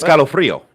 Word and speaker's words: escalofrío: escalofrío.